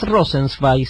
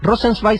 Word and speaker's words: Rosenzweig: Rosenzweig se escribe R-O-S-E-N, Rosen, Z-W-E-I-G, Rosenzweig sería, así literal.